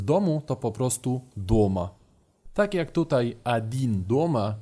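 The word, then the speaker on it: дома: W domu to po prostu doma. Tak jak tutaj adin doma, czyli sam w domu, a jeżeli chcielibyście powiedzieć jestem w domu, też mówicie po prostu ja doma. Zapamiętajcie, że akcent pada na o.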